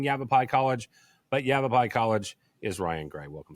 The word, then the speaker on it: Yavapai: had a hard time saying Yavapai College but Yavapai College is Ryan gray welcome sir thank you